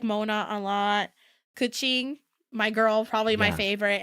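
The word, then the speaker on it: Keqing: My girl Keking. Is it Keking? No, I never knew how to. A lot. No, Kuching is like how you pronounce it.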